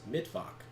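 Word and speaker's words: Mittwoch: uh get baited uh Wednesday is not like wen's dog in uh in German it's midf as in mid midweek hide yourself Mak out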